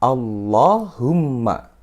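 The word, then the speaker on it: اللهم: lafadz Allah di ikuti maka dibacanya Allahumma Allahumma bukan Allahumma atau Allahumma Bukan tapi dia harus tebel Allah humma Allahumma Hai sampai sini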